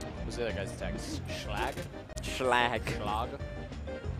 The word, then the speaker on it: Schlag: Schlag? Schlag. Schlag. It's like how the moon would pronounce log. Schlag.